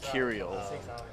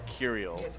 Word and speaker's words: Kirill: It's going to be Kirill. So that last O, I believe, is throwing you off, but it's Kirill.